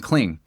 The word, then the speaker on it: Kling: The next cluster of tools is Sora and Cling.